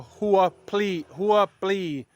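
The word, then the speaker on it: หัวปลี: market and ask for Hua please h-u-a plea b p l e e you have to pronounce the b and the P together please or you can just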